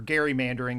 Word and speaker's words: gerrymandering: in this country because particularly with things like gerrymandering or gerrymandering as it was originally pronounced um is they're asking states to redraw